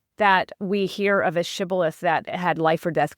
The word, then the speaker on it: shibboleth: So if you said sibboleth with a s instead of shibboleth, they knew that you